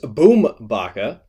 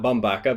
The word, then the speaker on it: Bumbaca: In an unrelated story, Chris Bumbaca, not Bumbaca, because we're not saying Angel Hernandez, because we actually honor the way that people want their names to be pronounced.